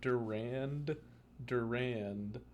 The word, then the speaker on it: Durand Durand: the scientist was named durand durand like d-u-r-a-n-d but you pronounce it without the second d and the band is